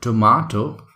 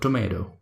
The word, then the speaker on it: tomato: it in a way so this is called tomato in British accent in American accent is called tomato they try to say